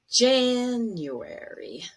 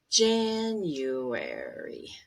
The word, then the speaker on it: January: words here we go january so the stressed one should be higher longer and stronger january january february february march the syllable